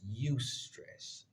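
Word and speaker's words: eustress: at as positive stress so rather than distress you stress e u s t r SS the E is silent um as it is spelled in as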